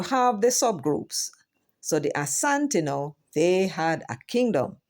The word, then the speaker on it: Asante: And here are a list of them: the Adanse, Agona, Akwapen, Akwamu, Akwayen, the Anye, the Asante, and it's no H in it. It's actually Asante, the Buali, they are in the Ivory Coast, Bono.